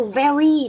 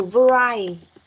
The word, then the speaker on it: vary: Từ số 2 mà mình bị đọc nhầm thành cái từ very, đó là từ vary.